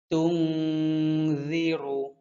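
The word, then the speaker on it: تُنذِرُ: ইন্নামা তুনজিরু, রু রু মোটা হরফ, র পেশ রু।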